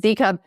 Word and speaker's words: ZCOB: It's Zingerman's Community of Businesses, and we pronounce it ZCOB.